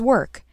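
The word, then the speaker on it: WORC: Ywca and Search operate one-stops, and JHP participates in an online database known as Work, which is spelled W-O-R-C.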